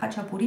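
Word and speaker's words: khachapuri: qu-ce que c'est le ça se dit hatchapuri mais ça s'écrit k si vous le lisez en français c'est un pain georgien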